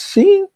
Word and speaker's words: Shein: It's not Shein, it's Shein.